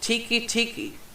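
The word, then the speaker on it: Teke Teke: researchers this one's labeled tiki Tiki not Tiki as in the drink or freaking Hut it's spelled te k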